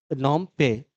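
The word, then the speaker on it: Phnom Penh: है कंबोडिया की राजधानी नोम पे नोम पे ठीक है नोम मतलब इंग्लिश में जो होगा लिखा हुआ वो पीएच से होगा साइलेंट है वो उसमें पीएच तो नोम पे कहां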